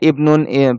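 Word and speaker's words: ابن: যেমন হিয়া ইমরাতুন আমরা পড়েছিলাম না, ঠিক অনুরূপভাবে ইবনুন, ইবনাতুনের ক্ষেত্রে এই আলিফটা লেখায় আসবে, উচ্চারণে আসবে না।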